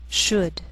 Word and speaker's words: should: she'll it'll wheel veil sometimes L can be silent so you have to be careful the first five words listed below are very common so let's take the time to make sure that you're pronouncing them correctly listen and repeat after